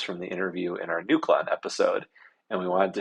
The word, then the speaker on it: Nucleon: We just always said Nucleon. Nucleon. Oh, like a nuke. Yes. Okay, great. Like the neutron, like Jimmy Neutron.